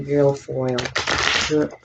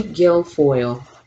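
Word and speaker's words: Guilfoyle: them out thank you let's talk about kimberly girlfoil how do you say her name kimberly gilfoyle gilfoyle all right show his kimberly guild foil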